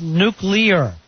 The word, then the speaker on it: nuclear: They say the correct way to say it is nuclear. Nuclear. Nuclear. Yeah. Nuclear. With 3 syllables.